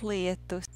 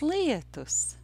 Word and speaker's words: lietus: It is a two-syllable word. Lietus. Lietus. In the first syllable of this word, there's that difficult diphthong ia, difficult for many English speakers.